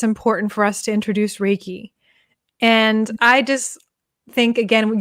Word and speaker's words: reiki: good yes and also with a name like ricky everybody gets mixed up a lot of time they go to say ricky and they say reiki and